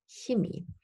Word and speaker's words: Chemie: these different pronunciation options, but standard German is, in my opinion, Chemie.